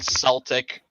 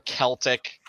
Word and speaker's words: Celtic: course you know there's the eternal celtic or celtic uh evidently that's what i always say but evidently either is uh is fine and of course nowadays